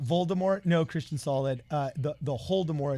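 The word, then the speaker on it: Holodomor: The Voldemort is pronounced the Holdemort, and it means the Great Starvation in the Ukraine.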